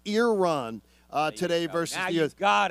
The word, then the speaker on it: Iran: or Iran Iran Iran so it's ear Iran so it's Iran uh today versus youth